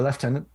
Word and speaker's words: lieutenant: it from midshipman to lieutenant to lieutenant to use the british pronunciation to make it from